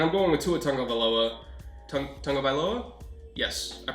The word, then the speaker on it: Tagovailoa: Tagovailoa? Yes, I pronounced that right. Tagovailoa.